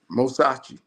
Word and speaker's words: Mosachi: with Mosachi, am I pronouncing it correctly? Is that how you say Yeah. it, Mosachi? Yeah. Mosachi.